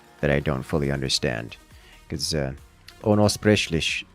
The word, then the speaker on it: unaussprechlich: I'm guessing it has some connotation that I don't fully understand, because Unaussprechlich, I don't need to roll the R.